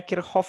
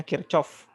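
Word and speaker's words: Kirchhoff: bataknyauk kirhov untuk tegangan ini saya bacanya kirhov Ya kalau Mungkin kalian di SMA ee membacanya kirchov e karena kirhov ini orang Jerman mereka membacanya ini kirhov ya jadi Eh kirhov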